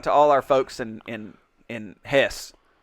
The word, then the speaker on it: Hesse: Shout out to all our folks in Hesse. I learned it's pronounced Hesse. Hesse. It's not pronounced Hesse. It's Hesse. Hesse.